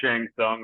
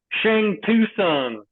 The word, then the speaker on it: Shang Tsung: lad, they were like, Shang Tsung. Tucson. Shang Tsung. Tucson. Yeah. Did I say that? I did. I'm not gonna lie, until I was corrected, and then I was like, okay, T is silent.